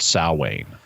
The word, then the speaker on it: Samhain: I know it's spelled Samhain, but it's pronounced Samhain.